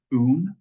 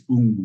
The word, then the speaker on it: Woong: It's spelled that way, but it's pronounced like Woong. It's like moon without the M, spoon without the SP, soon without the S. Or authentic way of pronouncing it in Korean is Woong with a G at the end, but that silent W throws everybody off, so don't feel bad about it.